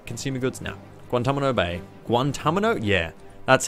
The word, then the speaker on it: Guantanamo: Guantanamo?